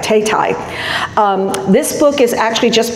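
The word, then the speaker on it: Thao Thai: this one right now, Tay Tai. That's how she pronounces her name, and I listened to her do an interview this morning to make sure I got that right, Tay Tai.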